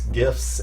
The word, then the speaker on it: GIF: be like giraffe so it's a jish sound not a hard G what about about gift